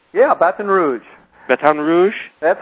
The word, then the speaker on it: Baton Rouge: you are you're in B Rouge did I pronounce that right yeah Baton Rouge batan Rouge that's how they say It Baton Rouge batan